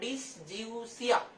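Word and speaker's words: dysgeusia: ঠিক আছে, আচ্ছা এর থেকে কম লালা যদি ক্ষরিত হয় তাহলে সেই যে রোগটা, ওই রোগটাকে বলবো আমরা ডিসজিউসিয়া। এভাবে ভাগ ভাগ করে উচ্চারণ করো, ডিসজিউসিয়া।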